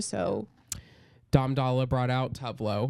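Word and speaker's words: Tove Lo: So Dom Dalla brought out Tuvlo or Tuve Lu. Tuve Lu. Get it right.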